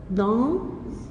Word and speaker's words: dans: Le frère d'Alice joue dans le jardin, sous un arbre. Le frère d'Alice joue dans, le S ne se prononce pas, le jardin.